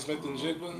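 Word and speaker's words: Smith-Njigba: Oh, Jackson Smith and Jigba.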